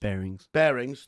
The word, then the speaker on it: Barings: Barings, I don't know how it's pronounced. Bearings, thank you, Jody.